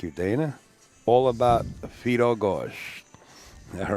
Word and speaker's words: Gorst: How do you pronounce Mr. Gorst's name? Gorst.